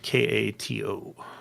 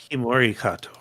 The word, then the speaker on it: Himori Kato: And don't call her Kato. She does not like that. It damages her bliss. No? How do you say it? Himori Kato. So you say the whole name together, and then she's okay.